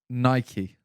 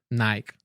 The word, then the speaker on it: Nike: Nike. It's Nike. It is Nike. I say Nike though. Yeah. I say Nike. Nike's on my feet. I say Nike, but it is Nike.